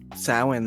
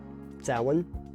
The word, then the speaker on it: Samhain: Samhain, though. Samhain. Yep. Which I think one time I pronounced as Samhain, and everybody gave me a dirty Yeah, look. no. It's written as Samhain. Yeah, It is Samhain.